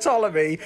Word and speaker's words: Ptolemy: 13th pharaoh of egypt it's pronounced ptolemy were played by harry